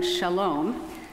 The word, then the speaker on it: Shalom: to God our next hymn is number 667 Shalom we will be singing Just verse number one